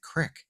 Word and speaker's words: creek: Even it wasn't until like when I really saw the word written as a boy, and I was like, why is that crick?